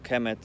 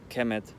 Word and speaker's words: Kemet: Like, for example, if you watch my previous video, I talked about how Kemet is not actually called Kemet, but it's pronounced Kemet. So just the K, the M, and the T.